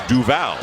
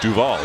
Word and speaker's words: Duval: mean his name is actually supposed to be pronounced Trayvon not Trayvon or Trayvon Trayvon and it's due vow not to vol so he has chain on has changed has